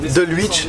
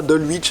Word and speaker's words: Dulwich: Alors, Dulwich, ça se prononce pas Dulwich. En fait, il y a un W, mais on ne prononce pas le W, on dit Dulwich.